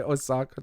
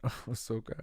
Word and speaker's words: Ahsoka: I always want to say Osaka, Japan. Ahsoka. I have to say it now to make sure I say it right.